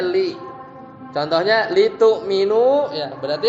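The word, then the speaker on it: لِ: Lamul amr itu bacanya li. Bacanya li.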